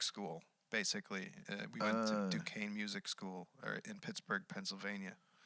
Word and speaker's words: Duquesne: Duquesne. Duquesne. Yeah, it's spelled odd. It's like it's a French thing.